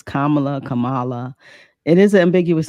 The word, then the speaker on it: Kamala: kind of you know say it correctly it's Kamala Kamala it is an ambiguous name so I